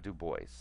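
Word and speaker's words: Du Bois: web dub disagrees or web du Boyce I believe both pronunciations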